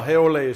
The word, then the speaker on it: haole: they call me a hey Olie or a haole well hey Olie supper the Hawaiian pronunciation what does how they